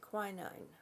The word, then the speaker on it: quinine: used to treat lupus over here the cold pronounce it quinine and then relax your legs yep and then